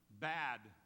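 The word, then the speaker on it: בד: It occurs 201 times in the Hebrew, and the word for alone is pronounced bad. Bad.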